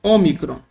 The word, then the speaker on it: ômicron: No grego se escreve micron, micron. No português seria ômicron, ômicron. Ok? E tem um som como na palavra pó, um som aberto, pó, tá?